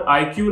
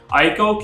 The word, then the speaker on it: ICAO: Converting from N IQ licence, ICAO licence, जैसे भी आपको प्रोनाउंस करना चाह रहे हैं, to that specific countries licence. ICAO क्यों, क्योंकि IQ या ICAO, Pakistan is एन IQ